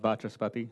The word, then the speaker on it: Vachaspati: Mr. Vashapati, is that close? Yeah, just like it's spelled, Vachaspati.